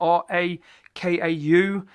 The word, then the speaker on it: Rakau: I think this is called Rakau, even though it's spelled R-A-K-A-U.